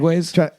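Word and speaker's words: segue: I've been I've been doing a lot of research, you know, taking notes, trying to get better at segways.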